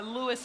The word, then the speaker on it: Louis: thank you john and only a true friend can correct you on national television about the pronunciation of such a great legend so thank you for for for sharing that story from tony bennett so i will now refer to this as the lewis armstrong stadium john thank you very